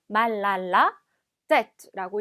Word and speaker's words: mal à la tête: 그래서 이 부분이 mal à la tête 이렇게 따로따로 읽는 것이 아니라 자, 이 부분을 마치 한 단어인 것처럼 mal à la tête라고 읽어주셔야 돼요.